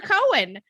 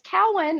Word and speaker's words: Cowan: pronounce it cow or Cohen it's yeah it's Cowan everybody everybody mispronounced it but it is cow and it's okay to